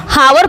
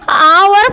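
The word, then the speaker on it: hour: हावर पढ़ लेगा हावर तो गलत हो जाएगा हावर पढ़ के वो ए लगा सकता है है ना इसीलिए दिस इज रॉन्ग अब यहां पर क्या पढ़ना है आवर पढ़ेंगे इसको क्या पढ़ेंगे ए साइलेंट आवर आवर आवर पढ़ते हैं तो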